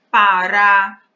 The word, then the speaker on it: pará: Cajá, pará. Percebam que em cajá, a sílaba forte é o já, porque é ela pronunciada com mais força. Pará, também, o rá é pronunciado com mais força.